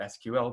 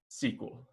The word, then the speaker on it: SQL: an sql database and i know that the pointy-haired boss pronounced it sql because it says an right here if he pronounced it the way a database programmer would pronounce it he would have said build a sql database and so that's the